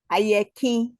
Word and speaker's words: Ayerki: Ayerki. How do you say that? And you can unmute. Ayeki.